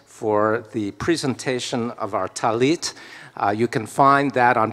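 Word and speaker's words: טלית: of you are wearing talitot. Talitot is the plural for talit. Sometimes it's called talis, which is the Ashkenazi pronunciation. Talitot is the Sephardic and the way they say it in Israel these days.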